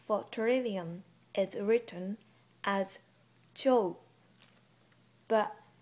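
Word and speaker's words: 兆: turin is written as cho but for the pronunciation you just ignore the last u sound and pronounce o sound right before u cute job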